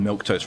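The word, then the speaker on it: Milquetoast: No, I just heard milk toast, right? No, that's exactly what was said. Milk toast. It's just... It's an actual word, but it's spelled M-I-L-Q-U-E, toast. It is pronounced milk toast, but you don't spell it like milk toast.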